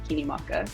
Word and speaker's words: Kinimaka: My full full name is Kinimaka.